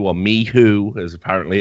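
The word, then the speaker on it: MICHU: They're bringing in Mishu or Mihoo as apparently it's pronounced.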